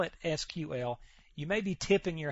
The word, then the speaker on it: SQL: way to pronounce this you will hear it pronounced all kinds of ways the correct way as you see right here is SQL as if it was spelled out s qu